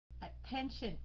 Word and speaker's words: attention: Attention, attention. Anh chị thấy chữ sần thì nhấn cái dòng cái âm phía trước đó.